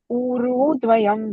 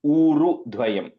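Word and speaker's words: ūru-dvayam: And the U is the long U. The Ru is a short U only. So it's like Uru Dvayam. Okay. No. Uru-dvayam. Yeah, yeah, exactly. Uru Dvayam. The U is a long U.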